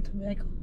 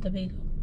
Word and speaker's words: Tobago: we just say you straight from tobacco i mean trinidad tobago that's how you say it yeah that's how you